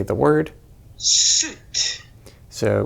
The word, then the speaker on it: soet: Suit. So we can hear that this is pronounced soet.